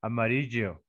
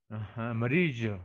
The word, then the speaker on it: amarillo: Victoria, you see your neighbors from your country or from Argentina, they say amarillo, amarillo, Amarillo. amarillo, like a CH or SH, something like that.